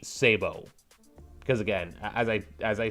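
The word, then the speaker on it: sabot: Although again, the military way, if you want to go strictly military way, would be Sabo, because again, as I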